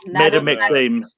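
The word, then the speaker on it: Madame Maxime: Name of the half-giant witch who serves as headmistress Madam Maxime.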